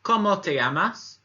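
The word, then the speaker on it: cómo te llamas: the first one is a question and it's como te llamas como te llamas when I know you'll notice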